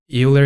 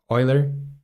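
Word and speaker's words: Euler: don't worry uh and eer is pronounced oer oer because uh e in or AER is pronounced Oiler because e in German is pronounced oi okay okay okay uh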